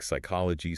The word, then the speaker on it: psychology: I mean, we see the exact same hardware failure with the Greek PS combination, words like psychology, psalm, or pseudo. Oh, yes. The P is totally silent for us.